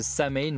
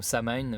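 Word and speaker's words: Samhain: vieille fête religieuse irlandaise Samain ou Samain bref je vous laisse la prononciation que vous souhaitez célébrée au début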